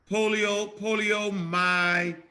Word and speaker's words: poliomyelitis: Poliomyelitis.